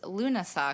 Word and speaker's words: Lughnasadh: Where does Loon-uh-sah come from?